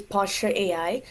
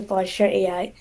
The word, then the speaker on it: Postur AI: So my company name is Postur AI. It's spelled like posture but without an E. So Postur AI.